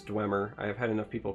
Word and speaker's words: Dwemer: it is a neutral Dwemer Dwemer gleamer i never say it correctly I'm pretty sure it's Dwemer I have had enough